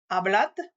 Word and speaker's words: hablad: Selon les régions, ce D final sera prononcé comme un D, comme je viens de te le prononcer, ne sera pas prononcé du tout, ou sera prononcé comme un Z un peu atténué.